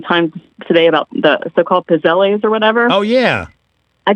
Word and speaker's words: pizzelles: Just think of the word pizza. 2 Z's in Italian is T-S. Okay. So it's pizzelles, like pizza, pizzelles.